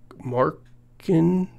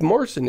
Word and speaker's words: Marcin: The CEO of CD Projekt Red is Markin? How do you pronounce this name? Welcome to the stage, the joint CEO of CD Projekt Red, Marcin Lewinsky.